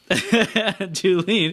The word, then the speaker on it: Julen: Julen, Julen is how it's pronounced, founder of Finding Your Fiji.